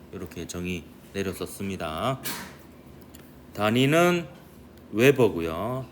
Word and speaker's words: 웨버: 단위는 웨버고요. WB라고 쓰고 웨버라고 읽습니다.